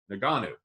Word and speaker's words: Ngannou: Ngannou, would you say Ngannou? Ngannou. So we do pronounce the G.